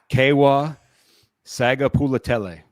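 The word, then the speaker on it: Keawe Sagapolutele: I think it's Kewa Sagapulatele. God bless you. Is how you say that.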